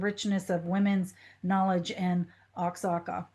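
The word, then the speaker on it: Oaxaca: Linda, am I pronouncing that town correctly? Oxaka when we go to Mexico. I believe that you are not, but I can't pronounce it correctly myself. It's Waka.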